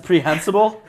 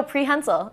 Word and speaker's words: prehensile: what that means preh prehensible no prehensile it means you can grab things with it isn't that all right would you want a preh hensil or a non- preh hensil I think you're saying it wrong I am not it's a preh hensil tail I guarantee you I've